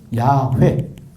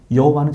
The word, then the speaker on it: 야훼: 근데 이거를 너무나 굳어졌기 때문에 고치지를 못하고 있을 뿐이지 정확한 발음은 야훼 혹은 야훼. 요 야훼도 이게 정확한 발음이고 여호와는 잘못된 발음이에요.